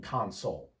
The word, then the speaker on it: console: I have an Xbox gaming console. Console with the accent on the second syllable is a verb meaning to comfort someone.